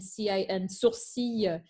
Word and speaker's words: sourcil: In terms of pronunciation, the tricky words in that, of course, were what do I do with CIL and sourcil? They are exceptions to careful.